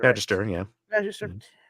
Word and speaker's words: Magister: Magister.